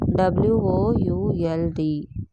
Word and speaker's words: would: W O U L D. Would L is silent.